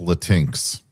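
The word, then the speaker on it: Latinx: I I think it's pronounced latinks.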